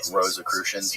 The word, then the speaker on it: Rosicrucians: Rosicrucians. Rosicrucians, yeah.